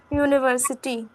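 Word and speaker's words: university: हम लोग जब इसको प्रोनाउंसिएट कर रहे हैं तो यू का साउंड आ रहा है, वाई ओ यू वाले यू का मैम साउंड आ रहा है, इसलिए यूनिवर्सिटी।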